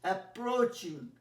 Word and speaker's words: approaching: আচ্ছা, তারপরে দেখো দেখেছি দ্য ট্রেন ইজ অ্যাপ্রোচিং, দেখো বানানটা ROACH, মনে আছে? ও এ থাকলে ডিপথং আমি বলেছিলাম ও উচ্চারণ হয়, ROAD road, GOAT goat, COAT coat.